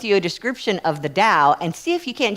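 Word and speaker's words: Tao: of which was the Dao. Anybody heard of the Dao? Yeah. It's spelled T AO.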